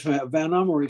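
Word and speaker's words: Vanhomrigh: with the venomari family it's an unusual way to pronounce a somewhat unusual word which was in fact in dutch i'll see if i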